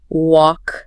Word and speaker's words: walk: A1 C2 for A1, friend, work, walk, that silent L again.